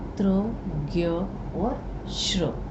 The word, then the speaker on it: ज्ञ: ज्ञ, अब बोलने में जब हम उसका उच्चारण करते हैं तो ज्ञ में ग और य की आपको ध्वनि आती है, परंतु लिखने में जो है ये ज और य है।